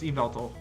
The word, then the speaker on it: Yveltal: But, I guess Y just makes different kinds of pronunciations. Anyways, that's not the point. It's Yveltal.